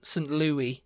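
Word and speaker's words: St. Louis: you wouldn't think that that was a weird pronunciation you know yeah uh the next one is St Louis St Louis um St Louie yeah I say St Louie because of Louisville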